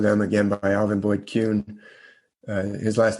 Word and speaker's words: Kuhn: And one of them, again, by Alvin Boyd Kuhn, his last name is spelled Kuhn, Alvin Boyd Kuhn.